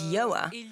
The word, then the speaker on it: Yoa: And the title comes from the fact that my name is Yoa, and since the start of my career, people often get my name wrong and call me Yao.